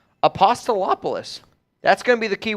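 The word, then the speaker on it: Apostolopoulos: that hard it's once I read it it's apostolopolis apostolopolis that's gonna be the key word today Steve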